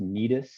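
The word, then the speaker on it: Cnidus: the that the name of that town is pronounced nidus um like what's on your leg knee does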